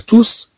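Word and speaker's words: tous: بهذا المعنى تتنطق أس، ولكن ممكن نقول تو لي زونفون، تو لي زونفون. لازم نتكلموا على الجمع ديال المذكر، اذا هنا نستعمل هاد تو بدون نطق هاد اس. اما اذا قلنا مثلا لي زونفون توس لا، اذا الاطفال كلكم هنا، يعني تعالوا هنا لي زونفون توس لا، اذا ممكن ننطق، اذا كما نقول هنا الاطفال كلكم، كلكم الاطفال كلكم هنا، ننطق هاد اس في الحاله.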